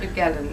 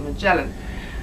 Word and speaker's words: Magellan: I was pronouncing the name of the cruise ship wrong. Apparently it's not Magellan as we thought it was, it's actually Magellan.